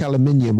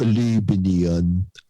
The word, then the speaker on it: aluminium: It's like aluminium or aluminium, as you pronounce it.